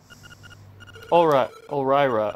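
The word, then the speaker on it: Ulrira: It seems that old man Ulraya is the shy guy in person. What's it? Wait, how do you say his name? Hold on. Ulraira.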